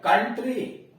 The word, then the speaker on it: country: जैसे COUNTRY, कंट्री। अब यहां देखिए OU के बाद R या यस तो नहीं है, लेकिन फिर भी उच्चारण हो रहा है अ, कंट्री।